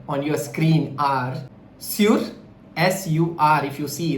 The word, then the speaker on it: sur: The another set of words, the 2 words which sound similar here on your screen are sur, S-U-R. If you see, that's the pronunciation is sur.